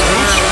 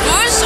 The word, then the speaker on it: Rogue: Rouge? Assassin's Creed Rouge oder, also Rogue, wie auch immer das ausgesprochen wird, oder Unity?